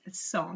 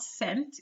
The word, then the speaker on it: cent: And the pronunciation is 100, not cent, even though it is spelled like cent in English, but it's 100.